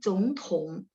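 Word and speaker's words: 总统: Oh, sedikit bacanya agak u ya, teman-teman ya. Jadi 总统. Karena dia 3, maka zongnya berubah jadi nada 2 ya.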